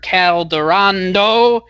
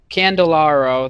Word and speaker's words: Candelario: I don't even think I pronounced it right. Candelario. There we go. Candelario. There we go. I got it right the third time.